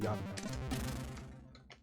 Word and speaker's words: Jan: My name is pronounced Jan. Actually with a really short A.